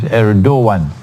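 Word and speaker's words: Erdoğan: It's pronounced as Erdogan, spelled as Erdogan, but the pronunciation is Erdogan, the president of Turkey.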